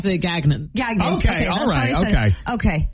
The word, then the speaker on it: Gagnon: So I would say that the correct way to pronounce it French is Gagnon. Gagnon. The way that a Mainer might pronounce it, but still homage to the French, is Gagnon.